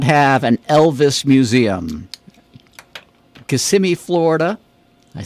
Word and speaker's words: Kissimmee: which city does not have an Elvis Museum Kissimmee Florida I said it right that time Memphis